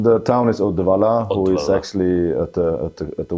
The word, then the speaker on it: Uddevalla: Uddevalla is your birth city, if I pronounce it well. Almost. Almost. How is it pronunciation? The town is Uddevalla, who is actually at the west coast of